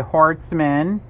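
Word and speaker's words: Horstman: Terry, how do you say last name? It's H-O-R-S-T-M-A-N. Okay, Hortzman.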